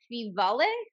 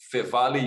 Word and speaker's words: Feevale: And you also work at, now, how do I pronounce this? Feevale.